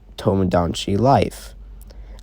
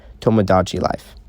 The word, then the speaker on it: Tomodachi Life: most part and that's how it is until tomodanchi life i think i pronounced that one but it's a hard pronounced in that world tomodachi life yeah i don't have that up on the